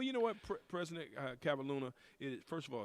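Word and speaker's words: Kavalhuna: henry ford college russell cavahuna and did i pronounce that right no but that's okay no one ever does it it's russ cavalluna but i'll tell you what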